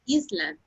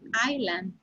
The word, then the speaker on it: island: only one word jesus you said islam the pronunciation is island yes teacher sorry island